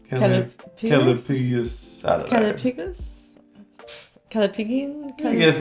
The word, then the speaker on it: callipygian: I don't know how to pronounce that because I can't read that. Callipygus. Callipygus? I don't know. Callipygian?